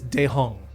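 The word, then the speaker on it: Daehong: a thing there we go um it is dejong spell that d-a d-a-e-h-o-n-g all one word yeah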